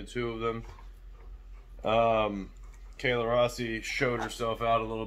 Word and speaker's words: Rossi: the unnamed woman named her name is kayla rossi i almost said rosie i'm not sure if you pronounce it either way but that's her name kayla i'm gonna say rossi and i gotta say